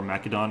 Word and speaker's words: Macedon: by turn today we're on macedon or mechadon as they like to pronounce it in this game and uh this